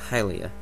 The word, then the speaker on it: Hylia: really see any it to make any sense pronounce halia or something it i i'm pretty sure it's hylia um the japanese name is it and same